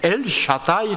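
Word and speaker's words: אל שדי: 표현합니다 지칭합니다 여기는 전능한 하나님 우리말로 번역돼 있는데 엘샤다이 아고 발음하는 히브리어 있니다이 엘샤다이 표현되는 하나님은 능력이 충만하신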